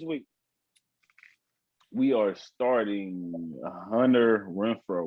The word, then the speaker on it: Renfrow: We are starting Hunter Renfrow. What's his name? Renfrow? You said it right. Yeah, you got it.